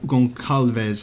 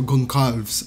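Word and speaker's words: Gonçalves: underwhelming when we have pedro goncalves i'm pretty sure that's how you say it or gon carves uh it's one of the two but we have a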